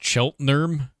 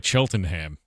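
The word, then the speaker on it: Cheltenham: It's pronounced Cheltnerm. Then why does it look like Cheltonham?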